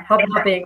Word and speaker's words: hobnobbing: Yeah, hobnobbing with a strong emphasis on the second syllable, I would say.